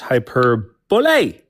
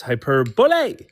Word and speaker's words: hyperbole: It's pronounced hyperbole. So it's like it's like ole but um yeah it's hyperbole.